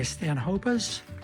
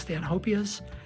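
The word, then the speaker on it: Stanhopea: So moving now to the north and northwest part of the greenhouse, this is where I keep my stanhopas, sometimes pronounced stanhopias, and we'll do a video on stanhopias a little later.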